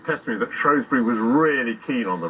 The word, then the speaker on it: Shrewsbury: Time now, though, to find out just how the good folk of Shrewsbury pronounce their town's name. Excuse me, am I in Shrewsbury or Shrewsbury? Shrewsbury.